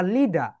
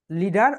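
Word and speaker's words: leader: My main ambition is টু বি আ লিডার। লিডার অর লিডার, British and American. কারণ ব্রিটিশরা যদি শব্দের শেষে আর থাকে সেই আর কে উচ্চারণ করে না, এবং আমেরিকানরা সব জায়গায় করে।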